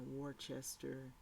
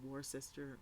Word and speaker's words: Worcester: unspooled so in the warchester award uh worcester massachusetts it's war sister worcester massachusetts the knight